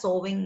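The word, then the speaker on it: sewing: machines fans Etc so this is pronounced as sowing machine so uh these are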